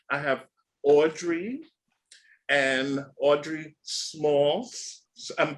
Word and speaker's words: Smaltz: them before um I have Audrey and Audrey smalls so I'm pronouncing it right right yes yes yes and